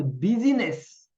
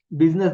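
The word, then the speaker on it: busyness: when you lose the बिजनेस in your mind बिजनेस नहीं बिजीनेस वो surprising है उनके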